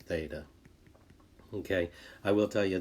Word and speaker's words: theta: line through it and we say that as theta okay i will tell